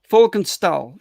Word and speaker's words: Folkenstal: I have a warm welcome for Miss Folkenstal. Hi. Hello. Did I pronounce your name correctly? Yeah, all is fine. Thank you. That's a welcome. Wow. Right. Folkenstal. That's the name. That's the way to pronounce it, right?